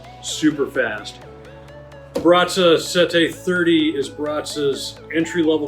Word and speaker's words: Sette: life chose me uh first of all it's pronounced sete as for the meaning sete does mean seven